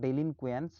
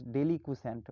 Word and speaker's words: deliquescent: The pronunciation is little bit awkward, so you just pronounce it properly, no problem. Not delinquent, it is deliquescent.